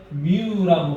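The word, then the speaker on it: μ: 그러면 쌍극자는 반대 전하를 띠고 있고 부분적인 전하를 나타내는 녀석들을 쌍극자라고 할 거고 쌍극자 모멘트 뮤라고 발음합니다. 뮤.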